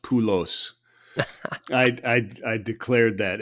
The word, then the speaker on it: Poulos: kid don't let him kid you people it's pronounced pulos I I I declared that in 2007 Greek